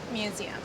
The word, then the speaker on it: Mmuseumm: So the double M is silent. Yes, The first M, but the second M you sound. if you want to. Okay, fine. Say it again slowly. Museum.